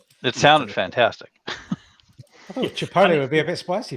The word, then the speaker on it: chipotle: dipped in i can never see is it chip chipper latte sauce is that how it's pronounced chipotle sauce chipotle chipotle yeah chipotle sauce and it